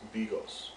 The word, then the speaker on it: Bigos: In this episode, I will teach you how to make hunter stew, or pronounced in Polish as Bigos.